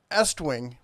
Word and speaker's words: Estwing: Now, back when I got started, Estwing rhymes with West Wing.